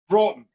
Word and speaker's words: Broughton: How do you pronounce Tim's last name? Broughton. That's what I thought.